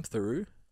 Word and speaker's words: Theroux: room one of the louis how do you pronounce his last name theroux yeah who does a full like hour on